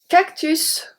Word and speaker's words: cactus: Cactus, cactus, this one maybe you got it wrong, because cactus is one of the words when the S is pronounced at the end.